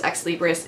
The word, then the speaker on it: ex libris: and I named it ex libris so that is actually how you pronounce it is ex libris it is Latin it stands for from